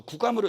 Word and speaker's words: 구감: 서산대사가 쓴 그 선가 귀감인데, 거북 귀자인데 그건 또 구감으로 읽어드리고, 남천 스님인데 원래 이렇게 하는 샘천자인데 남전 스님이라고 예우상 읽어드립니다.